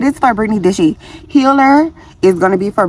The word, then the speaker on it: healHER: of my healer series it's gonna be spelled differently when you see it it's going to be spelled like healed in her but I'm putting it together and I am saying healer okay it's my own